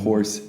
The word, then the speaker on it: hoarse: 근데 이거는 horse H-O-A-R-S-E. horse. 그리고 거칠다 course이라고 하잖아요. So course 있고 근데 또 경로할 때 course도 있어요. 다른 거고 하나는 course하고 course 근데 발음은 똑같아요. course하고 course하고 horse하고 horse 네 개 다 발음을 똑같아요.